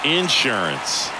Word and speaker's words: insurance: Looking for some insurance, or as our friends down in the South would say, insurance. No matter how you say it, we know what you mean.